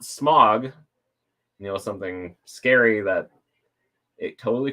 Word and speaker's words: Smaug: Because he apparently would have pronounced Smaug wrong. It's just smog. Guys, it's just smog. Just like smog. S-M-O-G. S-M-A-U-G. It's not Smaug.